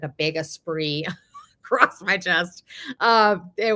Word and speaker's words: Esprit: sweaters were the best is that how you pronounce it Esprit or is it Esprit so it's apree apre you would not know